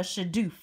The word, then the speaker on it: shadoof: And then they used this cool gadget here called a shadoof. That's fun to say. Shadoof, right? In your textbook, it's spelled S-H-A-D-O-O-F.